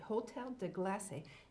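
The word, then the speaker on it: Hôtel de Glace: now it spelled GLA C II but it's pronounced glass at Hotel de classe it's made from ice and you can actually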